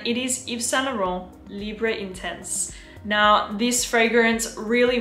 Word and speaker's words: Libre: And I remember when the original Libre came out, Libre, if you want to say it like a French person, Libre, but I'm going to say Libre.